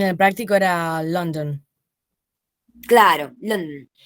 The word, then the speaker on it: London: Que yo en vez de decir London, puedo decir London. Un poco sacando la schwa de ahí y no pronunciándola. Entonces, lo que hubiera sido el núcleo, que sería la schwa por ser vocal, pasa a ser la alveolar nasal que le sigue.